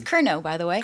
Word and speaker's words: Curnow: so but it's yeah you don't pronounce the W so just FYI um